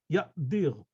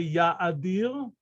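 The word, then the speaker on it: יאדיר: The aleph has no vocalization whatever. Exactly And like if it weren't there, it would be yadir also. No, that's because you think English. Ya'dir. This is an aleph, bona fide aleph, with bona fide no vocalization. Ya'dir. I didn't say ya'adir. I say ya'dir.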